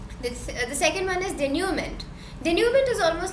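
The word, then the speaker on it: denouement: is finale denument so make sure that you're pronouncing this correctly it's denument and so the word came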